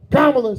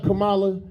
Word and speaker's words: Kamala: Kamla say her name right Kamala.